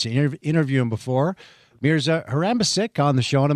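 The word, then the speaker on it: Harambašić: Mier Her Mier Excuse me, Mier is a Harambasic. That's how you pronounce his name.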